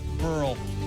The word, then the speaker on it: Burrell: AL LEITER TO PAT BURRELL. RHYMES WITH PEARL.